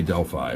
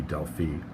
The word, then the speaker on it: Delphi: want to pronounce it I say Delphi but I think the official way might be Delphine don't care Oracle of